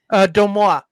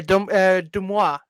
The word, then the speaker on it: DeuxMoi: pronounce this person's tag, at Dioxmoy, at DEUXMOI. Domois. Apparently posted the rumor and the speculation, which MSN decided to do a whole story on. Yeah, Domois is actually how you say it.